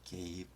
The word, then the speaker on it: gave: gave 자 끝에 v는 강하게 읽지 않고 소리를 죽여 읽습니다.